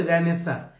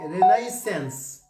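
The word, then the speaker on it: Renaissance: একজন বলছে রেনেসা, কোথায় রেনেসা, কোথায় রে কি রে, রেনাইসেন্স, রেনেসা রেনাইসেন্স। তো এরকম কিন্তু অনেকগুলো বিষয়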